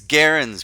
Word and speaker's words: Gerrans: I was just saying Gerrans the whole time. It's Gerrans, people. I was mispronouncing it.